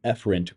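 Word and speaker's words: efferent: Epherence signals, that's epherent with an E. Notice how it's pronounced differently.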